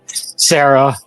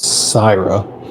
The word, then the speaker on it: Syra: and just yell, "No, Sarah," and then just angrily look at Urius. You mispronounced that very hard. Pronounce it for me, please. Syra. Syra.